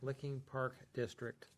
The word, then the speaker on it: Licking Park District: Licking Park District.